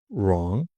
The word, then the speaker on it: wrong: Write, wrong. Careful, you write with a pen, okay? But this is my right hand. Spelled differently. Wrong, silent W.